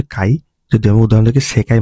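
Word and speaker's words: 界: এটা অন উচ্চারণ হচ্ছে কাই।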